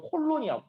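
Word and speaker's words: colon: 근데 여기에 가주어, 진주어, 가목적어, 뒷목적어, 분사구문, 클론의 역할이라고 했는데 클론이 아니고요. 콜론이야. 콜론. 이 땡땡 표시 있죠? 콜론이라고 읽어요.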